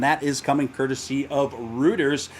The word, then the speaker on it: Reuters: is coming courtesy of reuters it rhymes with hooters don't go there for